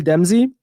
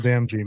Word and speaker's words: Damji: The one that I like the most is Jamil Demzi. I think he kept it. That's how you pronounce his last name, right? Jamil Damji, man.